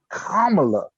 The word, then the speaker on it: Kamala: Kamala. I could have swore they were saying that wrong this whole time, but no, that's how you say it.